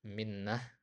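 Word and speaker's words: منّة: Jadi di situ kasroh mimnya minnah ya.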